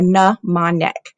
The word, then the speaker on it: mnemonic: So first of all, if we look at the word mnemonic, I want you to notice that the M is silent. And I put the pronunciation there, mnemonic.